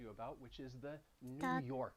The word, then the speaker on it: New York: And even the word New York, Park. you heard me pronounce it already, New York.